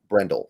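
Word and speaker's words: Brendel: did I say his name right Jake Brendle Brendle there we go they have a berford too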